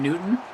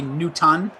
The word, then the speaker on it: Newton: this C they say Newton no they dro the te all together they insist that the T yeah they insist that the te is not part of the pronunciation of the name okay can you know